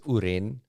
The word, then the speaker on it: Uren: I think it's Uren, but spelled U-R-E-N. Yeah.